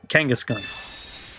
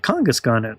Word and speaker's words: Kangaskhan: So in this case, it's supposed to be kangaroo, so it's supposed to be Kangaskhan. I was pronouncing it Kangaskhan in the beginning, but a lot of them are like that.